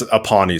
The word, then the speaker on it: Uponi: say your last name is it up aboni if or it's aoni so like once upon a time once upon a time then e at the end so aony that's how